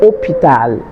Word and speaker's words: hôpital: So you pretend as though the H were not there. So it's hôpital.